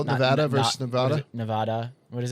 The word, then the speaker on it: Nevada: way to say it so according to the state's residents it's Nevada like Ed but everyone else calls it odd like Nevada and I've been called